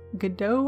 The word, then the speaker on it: Godot: with Unreal Engine or good Godot I think is how it's pronounced g.od ot or any